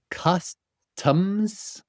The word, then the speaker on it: customs: Customs. Costumes. Do you hear the difference?